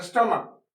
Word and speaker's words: stomach: इसका spelling STOMACH, STOMACH, स्टोमक।